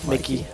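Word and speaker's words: Mikyx: Mickey. The X is silent, right? I believe so.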